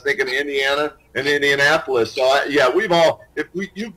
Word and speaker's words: Indianapolis: first started way back I couldn't say indianapolis in his sports updates I kept for the same Indiana apolis because as they go to Indiana and Indianapolis yeah we've all if